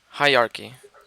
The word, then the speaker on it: hierarchy: you pronounce ER he hierarchy hi like hi our key hierarchy yep that's injustice